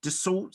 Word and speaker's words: Dassault: So was it, I don't know how to pronounce, Dassault Systems? Yes. Dassault Systems.